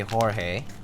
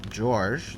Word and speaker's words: Jorge: think you i mean if you're gonna say it in spanish you should say jorge like jorge right that's a proper pronunciation in spanish but if you're gonna say george then yeah i mean